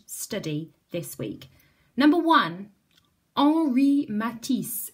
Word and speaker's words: Henri Matisse: this week number one ori matisse it's spelt like this but instead of saying henry i'm gonna say ori because it's french and the h is silent so he looked a